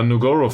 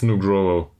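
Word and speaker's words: Nugroho: to do this uh nugoro for Rinaldi that might be an idea it's nugro I will mispronounce this every single time so negro for Rinaldi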